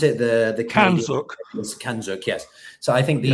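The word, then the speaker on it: CANZUK: Kanozuk, or how do you pronounce it? The Kanzuk. Kanzuk, yes.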